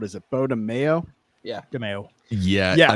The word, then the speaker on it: DeMayo: DeMayo. Yeah, Yeah, I've heard it pronounced DeMayo a lot more, but yeah, those letters.